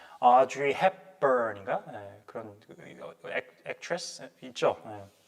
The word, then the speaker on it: Audrey: 자, Audrey Hepburn인가? 그런 액트레스 있죠. Audrey 이 미국식 발음이고 영국 사람 어떻게 발음했어요? Now I'd like to turn things over to Audrey. Audrey 그죠? 기대치가 다 왔습니다.